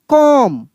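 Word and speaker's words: comb: यहाँ पे देखिए लिखा है KOMB लिखा है, लेकिन इसको हम लोग पढ़ेंगे कॉम। क्या पढ़ देंगे? कॉम। बी यहाँ पे साइलेंट रहेगा, भले यहाँ पे के लिखा है, गलती से टाइपिंग हुआ है, यहाँ पे बी साइलेंट होगा।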